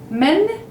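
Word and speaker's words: مَن: Men, it's who. It's an M and noon, like meme and noon, but with an A sound. Men, men. Like in the plural for man, you would say men.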